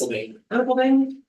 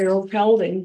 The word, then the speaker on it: Erpelding: Erpelding. I've heard people don't pronounce it. I'd say Earl Pelding, but you know, whatever.